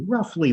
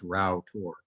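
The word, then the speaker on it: Rough Tor: And what we're looking at here is, it looks like this is pronounced rough, but it's not. It's actually pronounced Rowtor.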